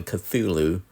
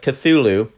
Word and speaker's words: Cthulhu: called The Call of the Cthulhu in a pulp magazine called Weird Tales in 1928.